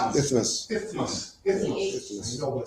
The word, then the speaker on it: isthmus: So the I, isn't it pronounced I? Isthmus?